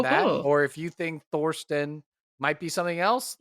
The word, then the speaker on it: Thorsten: Thorston, which is spelled Thirstston.